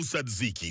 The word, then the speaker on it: tzatziki: Hello, tzatziki sauce. We honor you with correct pronunciation.